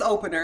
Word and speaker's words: OPNR: I called it OPNR, and I said, "How do you pronounce Everybody this?" does. And Dre's like, "It's opener," and I'm like, "Oh, that makes perfect sense."